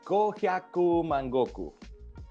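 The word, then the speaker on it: Gohyakumangoku: Go hayaku mangoku. You can kind of split it in your head as if you were speaking German, if you will. Go hyaku mangoku.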